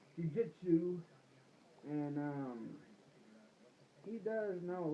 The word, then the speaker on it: jiu-jitsu: Jiu-jitsu.